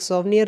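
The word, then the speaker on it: souvenir: World meet के occasion पर एक सॉवनियर रिलीज़ किया जाएगा और वो सोवनियर कैसा होगा। सोवनियर मीन्स होता है एक्चुअल में, अगर इसका सही से प्रोनाउंसिएट करो तो सुवनियर बोलते हैं।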